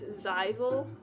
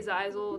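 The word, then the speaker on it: Zaizel: So it's Zizel. It's spelled Z-A-I-Z-E-L, but you can just say Zai, Z-A-I, or if you want, you can still call him Tay, but if you hear me say Zizel, then that's who I'm talking about.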